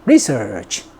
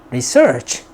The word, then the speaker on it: research: 즉 명사일 때는 앞을 강하게 research, 동사일 때는 뒤를 강하게 research 그렇게 발음합니다. research 그렇게 발음해요.